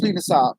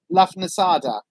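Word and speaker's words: Lughnasadh: I know it's Lunasar, but it's Lafnasada. Because my brain reads L-U-G-H as Luff, and then it's N-A-S-A-D, Lafnasad, and then the H, Lafnasada, is the way that my brain wants to read it.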